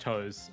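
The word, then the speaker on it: TOSE: Developed by, I don't know how to pronounce this. I think it's just Toes. T-O-S-E? Toes? Yeah, Toes?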